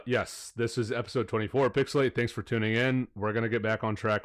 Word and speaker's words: PixelHate: and uh this is pixelate where the H is silent but the hate is